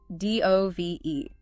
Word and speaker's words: dove: Next, d o v e. Two meanings again. First, the bird, a symbol of peace, pronounced dove to rhyme with love. Dove, love, like a white dove.